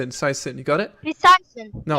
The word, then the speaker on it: PsiSyn: It's PsiSyn. You got it? PsiSyn. No. Yeah, PsiSyn. Hey. No, don't pronounce a P. Just Psy. Like there's no P.